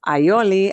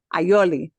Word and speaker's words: aioli: a typical thing to serve is bread with aioli aioli there is no real well it's like